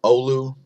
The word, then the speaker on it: Oulu: Finland and a couple Antarctic and monitors there's Oulu thanks again bula for teaching us how to pronounce Oulu there's a do MC antarctica showing